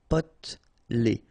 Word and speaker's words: potelé: Okay, here you don't really pronounce this E. Potelé.